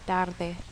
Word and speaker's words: tarde: So if you see it in a word like tarde, it makes more of a TH sound than a D sound.